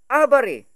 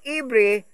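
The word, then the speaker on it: עברי: So what is the actual pronunciation of the word known today as Hebrew? It is abari, with no vowel, or ibri with vowel points.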